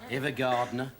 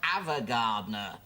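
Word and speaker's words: Ava Gardner: Evergardner. It's pronounced Avagardner.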